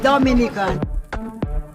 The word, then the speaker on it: Dominica: Oh, we call it Dominican. It is spelled D-O-M-I-N-I-C-A.